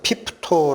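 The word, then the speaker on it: πίπτω: 떨어지거나 을이라는 이 단어가 헬라어로 는 피토 라는 발음으로 읽히는 단어입니다 두 가지 뜻이 있습니다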